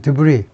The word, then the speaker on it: debris: clearing debris, S 발음 안 하고요. 불어입니다. 그래서 debris, 뭐 쓰레기들이요.